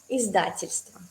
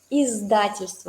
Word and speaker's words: Издательство: Aquí también es bastante difícil pronunciar las z, d juntos. No es diccionario, es la empresa que imprime libros, ¿sí? Издательство. Entonces, de verdad tenemos que practicar la z, luego la d y luego izda.